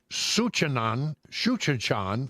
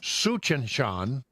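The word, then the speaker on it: Tsuchinshan: I can't say it, Suchanshan Atlas. I believe that's right. It's one of those words that starts with a TS. Sounds good to me, Brother Brian. I believe the T is silent. Suchanshan Atlas is currently visible to the naked eye.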